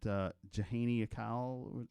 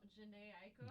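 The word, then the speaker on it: Jhené Aiko: I really love that Jahani Akal.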